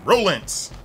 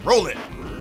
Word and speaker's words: Rolento: Rolents. What was that? What game was that? Alpha. Rolents. Yeah, Alpha 2. They didn't even say his whole. This is Roland. Like, okay, I guess that O is silent.